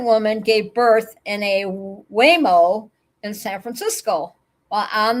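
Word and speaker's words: Waymo: The Whimoo. Whimo. Whimo. Whimo. Is it Whimo? It has to be Whimo, not Whimoo. Whimoo. It would be like talking about a cow or something.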